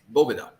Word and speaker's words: Boveda: what is this Bovada it's not Boveda it's bobuda and Carlito Fuente actually